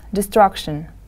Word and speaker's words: destruction: forests destruction of forests listen to the first word please destruction destruction the stress is on the second syllable destruction of forests good